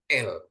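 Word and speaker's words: אל: Jadi itu kalau digabung dia alef dengan lamet dia bacanya jadi L, ya L.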